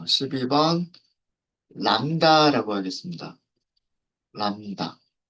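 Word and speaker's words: lambda: 요렇게 람다, 람다가 뭔지는 이따가 나중에 말씀드릴게요. 파일 만들어 주신 분들은 연결을 먼저 하도록 하겠습니다. 연결하고요. 어, 이거 오타 아니고요. 오타 아니고 B는 발음이 안 돼요.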